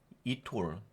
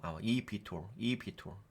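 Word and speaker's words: eVTOL: 이 회사의 비즈니스 모델 이톨 이거 이비톨이라고 이비톨 요 발음이 이비톨이더라고요. 이비톨 항공기 개발 전기 동력을 활용한 수지 이착륙이 가능한 항공기를 개발하여 교통 혼잡을 해결하고자 합니다.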